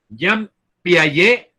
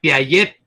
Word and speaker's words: Jean Piaget: Jean Piaget, así se pronuncia, aunque uno dice Piaget con la T, ¿verdad?